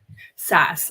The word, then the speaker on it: SaaS: world of Enterprise saas how do you say that Grace say software as a service yeah SAS I knew that I knew